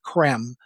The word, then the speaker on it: Creme: Primarily from a man named Benjamin Creme, spelled c r e m e. It looks like cream, but it's pronounced creme. It's like French, right?